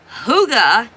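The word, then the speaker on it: hygge: It is no way spelled like it's pronounced. Huga is spelled h y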